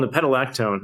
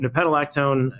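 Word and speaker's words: nepetalactone: So that one is called Nepetolactone. I'm sorry, that one's hard to spell. But if you can't spell it, it's a compound in catnip. So I like cats. So Nepetolactone Substack, you'll find a lot of the work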